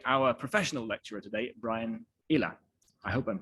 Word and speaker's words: Eyler: was written by our professional lecturer today brian ila i hope i'm pronouncing your name correctly actually yep okay good